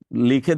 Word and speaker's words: লেখা: লিখে দেখানো যায়। তাই এই ছয়টা বর্ণ। আর এই ছয়টাকে যখন মুখে মুখে উচ্চারণ করবে ছয়টাই হবে ধ্বনি।